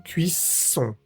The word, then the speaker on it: cuisson: Vemos nuevamente la vocal nasal o N, que se pronuncia igual que la O. M. No vamos a decir la O separada de la n, no es cuisón, sino cuisón.